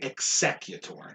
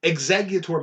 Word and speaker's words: Exeggutor: executor yeah i always i say executor i like like i pronounce the g's like like sc which is weird exactly yeah exeggutor makes it i t